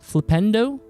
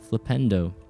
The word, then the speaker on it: Flipendo: Flipendo like Nintendo. Flipendo.